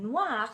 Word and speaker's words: noir: an exception because um the rule of pronunciation is that the final consonant is silent but in Noir that's an exception I pronounce Noir so in this case